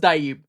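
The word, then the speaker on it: DHIB: But it's pronounced Dib.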